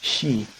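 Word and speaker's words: 四: it's associated with death one of the ways to pronounce the number four in japan in japanese i should say is she um an example or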